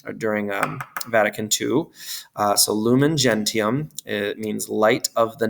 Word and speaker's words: gentium: want to put and it's going to be gentium. Or as we call it in ecclesiastical pronunciation, gentium.